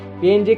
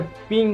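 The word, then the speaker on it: PNG: पीएनजी का उच्चारण असलियत में पिंग है। इसको बनाने वाले ने इसका उच्चारण पिंग ही रखा था।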